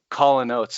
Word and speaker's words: Callin Oats: and we recognize that, Callin Oats, it's CALLIN apostrophe, rhymes with Hall and Oats, Callin Oats.